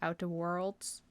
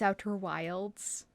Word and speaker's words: Outer Wilds: I would like to state the fact that I keep mispronouncing the title of Outer Wilds. I keep calling it Outer Worlds. It's Outer Wilds.